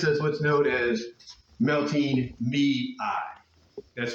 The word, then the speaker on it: Mei: She uh basically every May every May goes out and gives us what's known as melting me. That's right. That's exactly how it's spelled. Melting me. Mi.